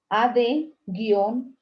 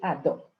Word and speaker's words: ad hoc: Se escribe AD-H-O-C y se lee ADO. A, D de dedo, guión, H, O y C de casa. Se lee ad hoc.